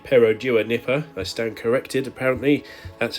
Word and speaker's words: Perodua Nippa: truly unexceptional cars yes we're back in the perua Nipper or should I say perodua Nipper I stand corrected apparently that's how you pronounce it on our way this time to